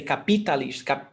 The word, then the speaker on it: capitalista: It's because the stressed syllable is not on P, so that's why I don't say capitalista. Capitalista. It's capitalista. The stressed syllable is on lis.